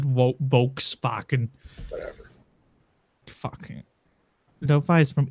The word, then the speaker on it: Volkswagen: V in German is F. So that's Volkswagen, not Volkswagen.